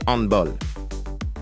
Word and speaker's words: handball: Handball ou handball? On dit football, mais ce mot se prononce handball.